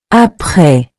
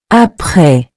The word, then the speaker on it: après: Après. Meaning after. Say it with me. Après. Après. You've probably noticed the final S in both words is silent. We don't pronounce it, but it's still there in writing.